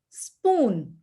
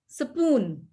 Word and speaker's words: spoon: put something in between similarly spoon that's how the english speakers will call this will pronounce this but the other speakers will say between s and p supoon supoon okay so that's the difference